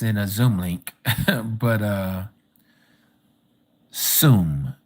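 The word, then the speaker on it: Tzum: The word Zoom, T-Z-O-O-M, I guess, but we spell it T-Z-U-M, excuse me.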